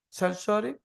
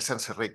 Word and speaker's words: Senserik: Our next speaker, Sensory. Yeah. It's usually pronounced Senserik, but no one does it right, so it's fine.